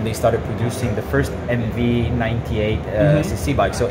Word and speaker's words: Emmevi: MV austa when they started producing the first MV 98 uh cc bike so 8 years ago